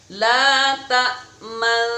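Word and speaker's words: لا تأمنّا: Cara membacanya mencucu di tengah-tengahnya. Mencucu di tengah-tengah. Jadi dengung dulu, terus mencucu, dengung lagi, lalu diteruskan. Contoh, la ta'manna.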